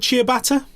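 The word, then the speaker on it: ciabatta: to get my answers so yeah did i pronounce that bread thing right is it called chia bata chia bata bread yeah yeah that is right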